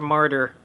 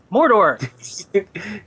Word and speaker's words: Mordor: dude from Shadow of murder m m murder I just like saying it wrong it's funner that way and I said f not simply pronounce mortar what Mordor thank you so V skills what